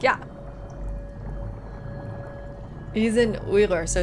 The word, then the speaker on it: Uyghur: Uy. This is a Qain sound. Guttural G sound. Uyghur. Yeah, I have no doubts. Yeah, I have no doubts because this is a long U sound as well.